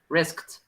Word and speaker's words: risked: risk with a finality risked risk i was practicing it with elsa and it's so difficult to do that like that and it's not at risk like you actually pronounce the t and in this case